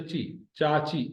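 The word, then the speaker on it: چاچو: रिश्तन जनाला, आज हमने पढ़ा चाचू। चाचू मीन्स चचा, अंकल। चाचो, चे और अलिफ जबर के साथ मिले हो, चे और वाव जबर के साथ मिले हो।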